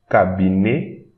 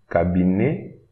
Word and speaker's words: cabinet: E-T at the end here of a word, we pronounce it E, cabinet, cabinet.